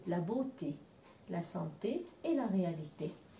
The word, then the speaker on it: beauté: Donc, ici, je dis la beauté parce que E-A-U, c'est un O en français. Il est un petit peu plus long que le O. O, la beauté, la santé et la réalité.